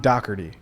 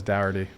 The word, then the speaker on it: Dougherty: I got a special guest for you guys today, John Doerty. Right. Correct. Because everybody says Dowardy. Yeah, you got the pronunciation correct.